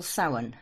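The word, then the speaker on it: Samhain: Then the next one we have we call sin which is spelled s a m h i a n and it's Halloween.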